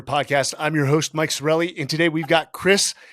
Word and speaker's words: Sarraille: It's actually pronounced Sarraille. Oh, there you go. Sarraille.